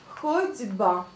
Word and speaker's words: ходьба: Vous dites A, mais vous écrivez un O. Ходьба. Ходьба. Mais vous prononcez ходьба.